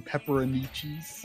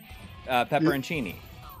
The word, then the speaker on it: pepperoncini: lately it'd be awesome I feel like my pronunciation of this is wrong but I've always called them pepperoni cheese oh okay pepperoncini yeah oh my gosh I